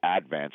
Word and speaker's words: Advance: stat now in advance or as the stat nowers call it the advance they put the syllable on the first word and my hometown MH